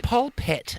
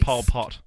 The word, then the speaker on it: polpette: Oh, Is the- polpette Italian for tomato for meatball? No, Like that's when they pronounced like Pol Pot.